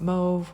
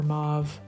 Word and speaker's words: mauve: and the golden Shimmer whether you call it move or mauve we're not going to argue about pronunciation but there's no arguing that